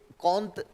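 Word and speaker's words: Comte: फ्रांसीसी दार्शनिक अगस्त कंत कंत लिखा जाता है ठीक है स्पेलिंग यह है लेकिन कंत पढ़ा जाता ठीक है ना य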